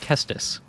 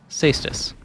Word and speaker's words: Caestus: good or bad but because of its pronunciation we are taking a look at the spiked kestus cystis kaistus call it what you will this weapon has been